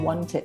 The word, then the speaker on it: wanted: So ทุกคนคะเวลาเรา pronounce verb ช่อง2กับ verb ช่อง3นะคะที่ลงท้ายด้วย ed ต้องระวังนะคะบางคำลงท้ายต้องลงออกเสียง t เถอะนะคะบางคำก็ลงเสียง d เดอะนะคะแต่บางคำก็ต้องออกเสียง ed คือ ed เช่นคำว่า wanted นะคะ So thank you so much Robert for sharing this with us.